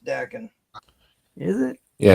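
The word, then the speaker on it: Daken: It's Dakin. actually pronounced Dakin.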